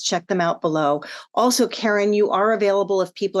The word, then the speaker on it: Caren: I'm Caren with the C. And now I'm Caren with the C. So just remember Care, Ware, it rhymes.